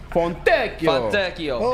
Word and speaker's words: Fontecchio: Fontecchio.